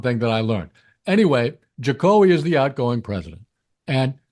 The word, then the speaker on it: Jokowi: So I always thought that his cool portmanteau nickname was pronounced Jokowi. Oh, what is it? Jokowi? Actually, it's Jokowi.